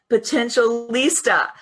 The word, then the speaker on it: Potentialista: Potentialista.